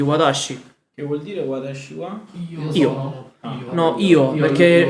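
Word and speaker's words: は: E io e wa è la particella del soggetto, che essendo particella si legge Wa. wa.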